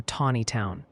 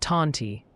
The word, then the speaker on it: Tontitown: Many are passionately advocating for Tawny Town. Think Tawny like the lion, Ryan, not Taunty, and apparently Lowell is pronounced Lowell.